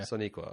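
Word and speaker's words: Sonequa: Yeah, Soniqua. Okay. Well, damn. Just like it's spelled.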